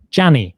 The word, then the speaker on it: Gianni: If you are familiar with the dead fashion gay designer Gianni Versace, that is actually Gianni Versace. It's fewer syllables than you were expecting, and that is Johnny.